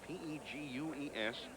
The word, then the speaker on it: Pegues: Here is Steve Pegues, P-E-G-U-E-S, pronounced Pegues, as if you didn't already know that.